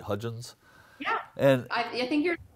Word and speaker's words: Hudgins: about is Roy delois Hudgins and am I pronouncing that right Hudgins and I think you're the first person who